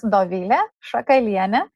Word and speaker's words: Dovilė Šakalienė: Actually, my name is Dovilė Šakalienė, but I understand it's really unusual.